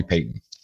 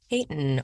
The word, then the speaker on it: Peyton: So you can call me Payton. Payton. Welcome. Welcome. Like like like Pton Manning, but it's my my last name. Yeah. Spelled the same way.